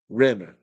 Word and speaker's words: Rimmer: she said it though rimmer rimmer to rhyme with scum R says toist do